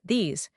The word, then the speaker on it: these: These. So the contrast is this short relaxed S sound. Fish. These long smiling Z sound.